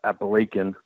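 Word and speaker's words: Apalachin: It took place in 1957, where in the small town of Appalachian, that's how they pronounce it there, and in upstate New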